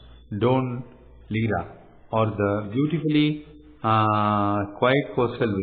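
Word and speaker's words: Dún Laoghaire: Take a DART railway from the city and visit the coastal village of Blackrock, the port town of Dunlawher, pronounced Don Lira, or the beautifully quiet coastal village of Dalkey, home to the Bonus Loco Club.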